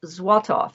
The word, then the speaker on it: Złotów: And it is spelled and pronounced Złotów, as you see at the top of the screen.